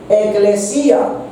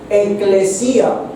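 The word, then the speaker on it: ἐκκλησία: Recuerden que incluso la palabra iglesia se deriva de una palabra griega que se pronuncia eclesía con dos k eclesía, que significa asamblea, significa los congregados, significa los llamados a salir fuera.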